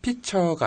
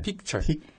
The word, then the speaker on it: picture: 피처가 아니라 픽처예요. 네. 픽처.